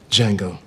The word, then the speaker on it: Django: what's your name Django can you spell it d-j-a-n-g-o the D is silent I know hello welcome